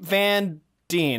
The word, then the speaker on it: Van Dien: Creep Van Dien, that's how you say it.